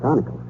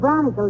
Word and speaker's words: bronchial: The word is bronchial, dearie, and it's pronounced bronchial.